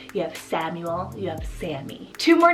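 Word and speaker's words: Sami: little bit more popular i have the name sammy spelled s-a-m-i sammy this one's an arabic diminutive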